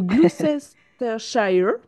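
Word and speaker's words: Gloucestershire: mal le prononcer le Glucester Shire. dans un je sais très bien dire shre le reste c'est plus compliqué je crois je crois qu'on dit pas le se et je crois que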